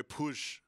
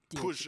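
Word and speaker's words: Puig: oh yeah that boy push push is how you say his name by the way push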